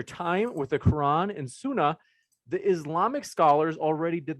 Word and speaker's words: Sunnah: Is it Sunnah or Sunnah? Sunnah. It's Sunnah.